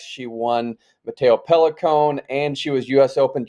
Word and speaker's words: Pellicone: Is it Matteo Pellicone or Pellicone? You were over there. Am I pronouncing it right? Yeah, I think it's Pellicone. I think you got it right.